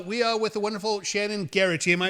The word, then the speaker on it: Shaenon: We are with the wonderful Shaenon Garrity. Am I pronouncing your name correctly? Shannon with a long A. Shaenon Garrity.